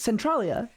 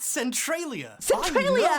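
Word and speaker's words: Centralia: Centrolia. It's actually pronounced Centriia.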